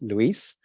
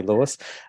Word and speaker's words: Luis: mother's from Thailand so my name's actually pronounced Luis and um but I've been called worse in the past say I'm happy for you to call me Lewis um but uh and